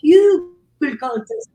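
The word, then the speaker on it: Hügelkultur: We got what got us to Hugel culture. It's a German word. It's a Yeah. German We word. can't even say it. We're Cuban Americans, so we butcher the word as well. It's pronounced Hugel culture.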